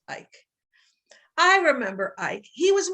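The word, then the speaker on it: Eike: Ike was our last name, E-I-K-E, pronounced Ike.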